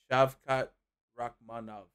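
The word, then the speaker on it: Shavkat Rakhmonov: I will say it properly. Shavkot Rachmanov.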